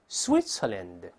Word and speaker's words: Switzerland: 所以把瑞士这个词跟老师大声读一遍，Switzerland，它是发 s s。